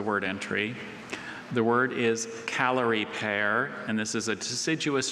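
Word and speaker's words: Callery pear: Calorie pear.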